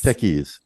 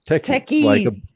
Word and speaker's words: Tekyz: Techies, Techies. like a bunch of techies sitting around the table.